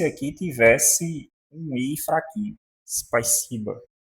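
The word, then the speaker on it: спасибо: E nenhuma palavra na língua portuguesa começa com uma consoante isolada, que é o caso aqui. Então, nós pronunciamos isso aqui como spaisiba, spaisiba.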